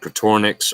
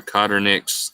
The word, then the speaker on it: Coturnix: They're called cotornix or cotternix. There's a lot of different ways to pronounce it, but they are quite a bit bigger and they develop a lot faster.